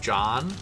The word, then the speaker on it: Dotson: Heard somebody pronounce that more like John. Oh, really? Just, I mean, if you think about it, it's not crazy. Yeah, sure. A lot of people really emphasize that second Jahan. Yeah, I've always done Jahan. But I kind of just, you could go John.